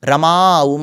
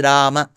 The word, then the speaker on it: Rama: aaram generally is lingum rama so that is wrong the north Indian pronunciation of Ram goindrish that is also wrong so it's neither Ram nor Rama it is Rama it is neither goind